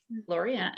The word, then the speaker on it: Laureano: Laureano, who wrote 5 Days in Skye, which I